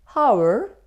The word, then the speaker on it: hour: Honest, honorable, hour? No. We don't pronounce H in these words. H isn't pronounced.